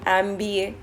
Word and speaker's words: MBA: Confusing again an MBA। MBA जब हम pronunciation करते हैं तो पहला लेटर क्या साउंड करता है? एम, ई साउंड करता है, जिसकी वजह से हम यहाँ पर एन लगाते हैं, ना कि एम लेटर